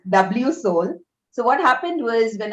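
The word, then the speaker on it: WSOL: do you pronounce it so it is w soul so what happened was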